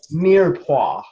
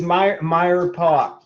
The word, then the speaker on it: mirepoix: Mirepoix. I was wondering how you're going to pronounce that. It is Mirepoix.